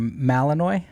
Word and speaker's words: Malinois: How do you pronounce that last word? Malinois.